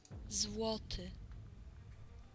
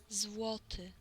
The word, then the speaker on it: Złoty: Złoty. Złoty.